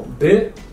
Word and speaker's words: ب: So B and T.